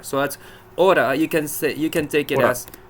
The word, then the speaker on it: hora: So the way you pronounce T between two vowels in English is exactly the same sound you need for a soft R. So that's hora.